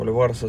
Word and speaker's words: Альварес: Размах рук у Альвареса 192, у Ковалева 184. То есть в этом показателе немножечко превосходит Альварес, так ударение ставит.